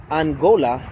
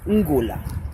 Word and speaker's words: Ngola: Angola is a mispronunciation of the Mbundu term Ngola, Ngola, Ngola.